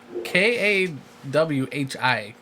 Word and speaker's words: Kawhi: it's Kawhi.